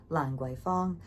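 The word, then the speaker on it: Lan Kwai: an alley actually called Langu. But remember that in English it's spelled with a K and in Cantonese it's going to be spelled with a G, not spelled but it's going to be pronounced with a G.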